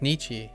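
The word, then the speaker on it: 日: Oh, is it pronounced Nichi? When it's like this? Because this was introduced as he. Oh, it's pronounced Nichi here. In this case.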